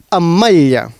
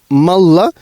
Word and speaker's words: ametlla: I mos fixam en la síl·laba tònica, que la podríem pronunciar com una vocal neutra, metla, però també com una E oberta, ametlla, o com una E tancada, armela. Però és que, a més, també poden canviar la vocal final. La poden pronunciar com una vocal neutra, ametlla, però també podria acabar amb E oberta, ametlla, com una A, ametla, o fins i tot